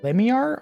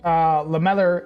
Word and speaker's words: lamellar: Change scale armor to Lemiar armor? What is that, Presper? I didn't even pronounce that.